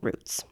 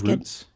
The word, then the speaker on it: routes: I that specifically that word it kind of depends on what words are around it.